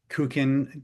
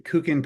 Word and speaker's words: Kukin: Uh, Professor Schneider is the professor of law and director of the Kukin. Did I pronounce that correctly, Andrea? You did. Thank you. Kukin program for conflict resolution at the Cardoo School of Law in New York City.